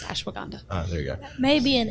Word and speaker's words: ashwagandha: help you pronounce words better foreign I will pronounce it for you it's ashwagandha there you go maybe an edumacation thing I